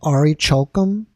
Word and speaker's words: orichalcum: of a metal called ari chokham that's how you pronounce it now ari chokum is